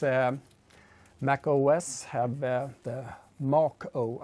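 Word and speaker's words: Mach-O: Mac OS have the Macho I think it should be pronounced but I guess everyone says Machu um um so yeah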